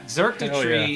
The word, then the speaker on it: Xurkitree: Yeah, Xurkitree, yeah. which is spelled with an X to make it just annoying.